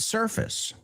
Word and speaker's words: surface: Surface, ojo con la pronunciación de esa palabra, dilo conmigo, por favor. No es surface, sino excuse me, sir. Surface. Surface is fis, no es face.